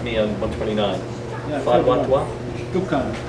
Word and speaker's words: Tuqan: Am I pronouncing that correctly? Yeah. So you can correct me on 129. Fadwa Tuqan? Tuqan. Tuqan.